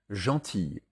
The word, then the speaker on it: gentil: Cependant, gentille et outille, au singulier comme au pluriel, se prononcent i et non il.